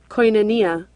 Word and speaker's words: Koinonia: Koinonia.